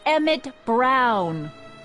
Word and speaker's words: Emmett Brown: to a tee that's Emmett Brown rhymes with clown which I'm beginning to